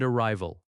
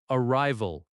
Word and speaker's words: arrival: departure and arrival departure Stress on the second syllable. de-par-ture arrival a-rri-val Stress on the second syllable again.